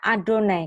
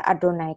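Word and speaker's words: אֲדֹנָי: Yang di sini ditulisnya Yehovah tapi bacanya Adonai. Kenapa kok ditulis Yehovah tapi dibaca Adonai?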